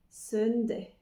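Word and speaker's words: søndag: jour de la semaine dimanche sunndday alors si vous faites de l'anglais c'est un peu comme le mot soleil Sun mais si vous ne connaissez pas l'anglais qui pourrait se rapprocher c'est quand on dit cela ceci ce ce donc Sun avec un N Sun donc le Sun se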